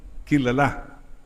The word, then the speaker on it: kilala: Kilala. Apo, sa last syllable ang stress.